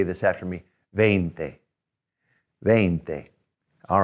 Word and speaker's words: veinte: veinte all right um and a lot of times i'll have students when they're learning spell that v-i-e and i'll say wait a minute wouldn't that be viente and they go oh yeah that's right so remember to spell it e-i to get the a sound then thick all right